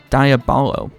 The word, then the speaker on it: diabolo: like a Chinese yo-yo called Diablo a diabolo diabolo there's nothing particularly diabolical about it otherwise I guess that